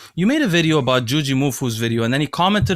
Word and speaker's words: Jujimufu: name properly by now, but apparently is it Jujimufu?